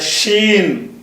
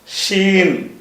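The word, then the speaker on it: شين: புள்ளிய வச்ச என்ன வாயிரும்னா அந்த எழுத்துக்கு பேரு ஷீன். இந்த ஷீன்னா என்னது? அந்த வடமொழியில ஷ இருக்குல அந்த ஷ உச்சரிப்பு. அதா தமிழ்ல உள்ள எழுத்துக்கள்ல அந்த ஷ கிடையாது.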